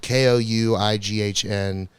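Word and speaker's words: Kouign: So it's spelled Kouighn. It's a really fucked up French word. It's very annoying. Kouighn. Yeah, I think so. That's That just does- queen. Yeah, That's just queen.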